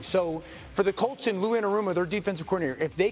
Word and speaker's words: Lou Anarumo: It's pronounced Lou Anarumo.